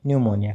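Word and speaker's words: pneumonia: जैसे वर्ड आपके सामने पी एन ई यू एम ओ एन आई ए न्यूमोनिया। ठीक है? निमोनिया क्योंकि पी साइलेंट है तो एन से ही शुरुआत करेंगे हम।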